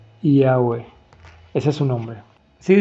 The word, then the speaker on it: Yahweh: Por lo tanto, YH o WH se pronuncia Yahweh.